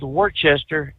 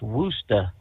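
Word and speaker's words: Worcester: I mean, really, you see a a town called spelled Warchester and it's Wooa.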